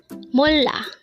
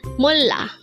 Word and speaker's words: 몰라: word number 90 mola again it's m this is pronounced as a two syllable word the first syllable is M second syllable is La pronounce it with me it's mola mola what is the